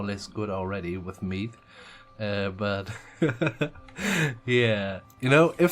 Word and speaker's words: Mide: So, and seemingly, our faction is called Mide. And yeah, I'm gonna go for the modern pronunciation, because otherwise it would be Mide. Something like this, the D with the DH, and yeah, so Mide is fine with me.